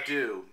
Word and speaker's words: Adieu: Now, Steve, let's talk about your next single, Adieu. Am I saying it right? That's a perfect French accent. Yes. Adieu, because I was in France for my honeymoon.